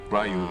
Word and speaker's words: Ryu: Is a Ryu, right? Right. Ryu in English and then Ryu in Japanese.